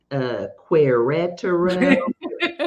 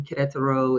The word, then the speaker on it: Querétaro: about 3 hours north of Mexico City called Querétaro, That's how I would Querétaro, be pronouncing it.